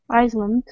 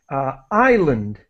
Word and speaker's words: island: And so we have island. The S is completely silent. We do not pronounce the S.